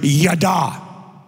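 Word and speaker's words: ידע: This word, acknowledge is pronounced in the Hebrew, yada.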